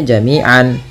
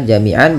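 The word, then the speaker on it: جَمِيعًا: Nah, awalnya jamian kalau kita waqaf maka tanwinnya diiwatkan, dibadalkan, diganti menjadi fathah saja ketemu alif. Maka jamian berubah menjadi jamia ya.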